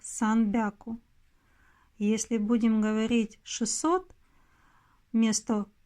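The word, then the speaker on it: さんびゃく: Например, если 100 мы считаем как хяку, мы можем случайно ошибиться, назвав, допустим, 300 санхяку. Это будет неправильно. Оно будет считаться как санбяку.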